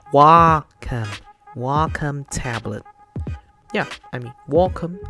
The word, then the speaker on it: Wacom: tip i just found out so this is welcome tablet yeah a lot of people were um